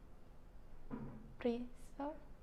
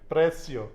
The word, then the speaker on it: precio: the price is, Priso. the price? Priso. Oh, Adley. Precio.